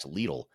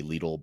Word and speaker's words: Lidl: I think in Germany they say Lidl, but in other parts of the world they say little, from what I understand.